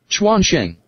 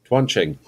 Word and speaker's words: Quansheng: Quansheng. Quansheng. Okay. Different. Quansheng. Okay. These two sound pretty much the same. Quansheng.